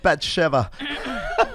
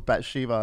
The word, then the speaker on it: Bathsheba: He loves you like David loved Bathsheba. Which I just found out how to pronounce. I thought my whole life I thought it was Bathsheba until I saw that fucking My Unorthodox Life.